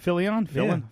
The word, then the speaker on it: Fillion: Fillion. Yeah. I'll pronounce it correctly.